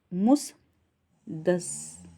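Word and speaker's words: मुसद्दस: तो ये इसे याद रखिएगा, मुसद्दल से हाली। ठीक है, मुसदस, आधा द है तो ये थोड़ा सा उच्चारण में प्रॉब्लम आ रही है दोस्तों, ध्यान दीजिएगा आप।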